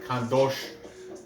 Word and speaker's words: Khandozhko: i'm saying it right khan dosh the zh makes a sh okay um so no